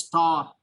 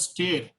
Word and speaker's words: stare: Sometimes it is also pronounced as star. It's also pronounced as star. In some dictionaries, the pronunciation is given as star. In some dictionaries, the pronunciation is given as stare.